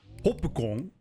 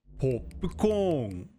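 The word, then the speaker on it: ポップコーン: So, when we see the word for popcorn written like this, we now know we need to pronounce pause here and a long vowel here. So, it's not hopukon, but hopukon.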